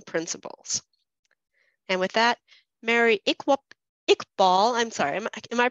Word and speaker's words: Iqbal: And with that, Mary Iqbal, I'm sorry, am I pronouncing your name correctly?